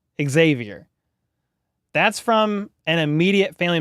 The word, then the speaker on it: Xavier: saying it wrong LOL it's pronounced with an X Xavier Xavier that's from an immediate